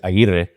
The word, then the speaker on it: Aguirre: And not just, obviously, her name is Aguirre, it's Anastacia, saying it in Spanish. And do you remember how that worked out at the beginning? I couldn't roll my R's.